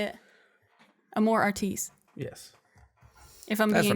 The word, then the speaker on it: Amor Artis: so I would go with a French pronunciation of Amor Artis, Yes.